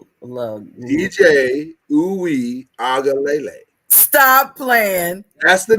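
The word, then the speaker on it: Uiagalelei: His name is DJ Uyagalele. Even though most people pronounce it DJ Uyagalele.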